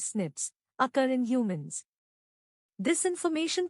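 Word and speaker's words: SNPs: dna differences s p's single nucleotide polymorphism pronounced as snips occur in humans this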